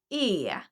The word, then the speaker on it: är: It's spelled, but the pronunciation is usually e.